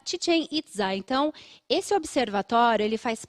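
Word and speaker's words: Chichén Itzá: tien it tien Itá a pronúncia correta Ok pronuncia tien itza Então esse Observatório ele faz parte de uma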